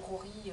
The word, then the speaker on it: Joji: Je me suis dit, bah oui, ça se prononce, les J se prononcent comme ça. Donc voilà. Donc je me rattrape sur ce podcast-ci, et je vous dis, donc c'est Rory Locatelli.